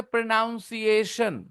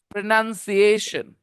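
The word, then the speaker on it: pronunciation: बोल के दिखाओ तो प्रोनशन प्रोन कुछ लोग बोलेंगे प्रोनाउंसिएशन कुछ लोग क्या बोलते हैं रॉन्ग वेरी वेरी बैड नहीं बोलना है प्रोनाउंसिएशन क्या बोलना है मेरे बच्चे प्रोनाउंसिएशन prawn प्रोनंसिएशन okay it's वेरीेंट to learn correct प्रोनंसिएशन अच्छा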